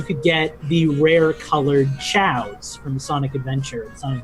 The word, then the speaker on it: Chao: Back when I played this game, I thought they were pronounced KO. Yeah. I never knew how they were. Yeah, why is it's the Chaos Emeralds, but the creatures are called chows?